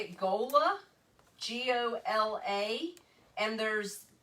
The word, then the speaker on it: gola: is the word i'm going to say it gola g-o-l-a and there's pronunciation marks i don't know what those are